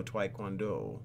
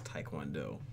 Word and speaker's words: Taekwondo: fair warning I know TW kwondo TW kwando do that's not how you say it guys it's Taekwondo oh my goodness doesn't